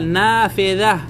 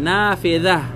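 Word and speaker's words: نافذة: না না হাতা যা নাফিযাহ নাফিযাহ না যে কোন সময় জাল উচ্চারণ যখন করবেন তখন আপনার জিব্বার আগা এই আপনার সামনের দাঁতে যে লাগতে হবে নাফিযাহ নাফিযাহ এগুলো যদি ঠিক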